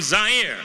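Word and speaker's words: Zaire: Howard Kosell coming to you live from Zire. Some would pronounce it Z.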